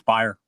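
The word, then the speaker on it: Beyer: Uh this is the destroyer Dick Bayer or Bayer. It's B- R. I'm not sure how you pronounce that. Byer or I think it's buyer. He was buyer.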